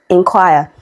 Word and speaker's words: inquire: So I don't want to hear you say N. It is in. Okay. Inquire.